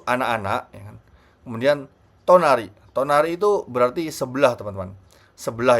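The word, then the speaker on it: 隣: Tonari itu berarti sebelah teman-teman. Sebelah ya kan. Dan sebagai catatan ya, kalau kanjinya seperti ini ya kan, itu tonari bacanya, artinya adalah sebelah gitu.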